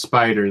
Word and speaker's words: SP//DR: Okay, it's pronounced spider.